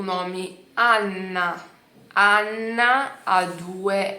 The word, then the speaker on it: Anna: Então, Anna, Anna con due N. Anna. Io chiamo Anna per venire con noi, sei lá.